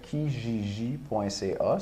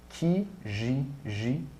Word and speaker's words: Kijiji: Là, je pense que ça tourne autour de 100 Puis tu peux même, là, une bonne place pour en chercher, c'est kijiji.ca, si tu veux chercher sur Internet.